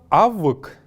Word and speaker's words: авык: Слово «авык» — высокомерие. «Авык». Еще раз повторим их все, сидя перед своими экранами. «Авык». Не «авг», а именно «авык».